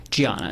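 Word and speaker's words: Diana: Um Giana. It's It's spelled with a D, but she's Brazilian. Okay. So, he was married to a woman pronounced Giana, correct?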